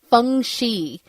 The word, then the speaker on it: feng shui: They called it feng shi. Yes. I guess there's different dialects. Maybe I'm not really 100% sure about that. Sure. I've been around feng shui forever, so, and it's one of these things